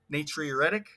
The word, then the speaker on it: natriuretic: is atrial um uh natriuretic natriuretic that is how you pronounce it atrial natriuretic peptide um